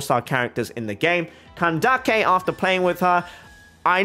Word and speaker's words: Candace: bit of law but that's why I pronounce it that way Sano and kandake I'm trying to be